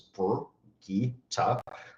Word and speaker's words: Brigitte: If you just say the 3 syllables, it's Brigitte, and you use 3 different parts of your mouth to say all 3 of them.